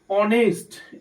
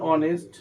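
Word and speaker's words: honest: Honourable তার জন্য এখানে কি বসবে অনারেবল পারসন অনেস্ট এইচ দিয়ে শুরু হয়েছে কনসোনেন্ট কনসোনেন্ট কিন্তু উচ্চারণ হয়েছে অ এর উচ্চারণ অ হয়েছে। তার জন্য এখানে বসবে এান অনেস্ট ম্যান।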